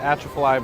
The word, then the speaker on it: Atchafalaya: Correct me my pronunciation, the Atchafalaya Basin, is that?